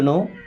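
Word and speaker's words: know: हाउ डू यू नो? दोस्तों how means होता है कैसे? डू यू? मींस आप नो। इस नो वर्ड में के और डब्लू साइलेंट।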